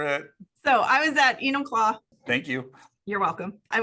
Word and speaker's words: Enumclaw: I always butcher it so I was at Enumclaw thank you you're welcome I was at Enumclaw